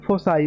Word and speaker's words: foci: ठीक है, लेकिन जब फोकस का प्लूरल लेंगे तो इसे फोसाई पढ़ते हैं, कुछ लोग फोकी पढ़ते हैं, कुछ लोग फोसाई पढ़ते हैं, लेकिन आप फोसाई पढ़िए, ये मैंने ऑक्सफोर्ड के डिक्शनरी में देखा था, तो इसका प्रोनाउंसिएशन ऐसे ही था, फोसाई करके।